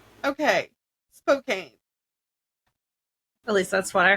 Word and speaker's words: Spokane: Spokan. I am so wrong. Spokane. All right. So, so sorry, Washington. I butchered your name. How is it said again? Spokane. Okay, Spokane.